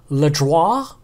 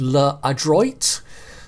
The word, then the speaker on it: L'Adroit: tier five French Destroyer leis which I'm probably saying slightly wrong I'm sure it's actually pronounced L adroit there you go French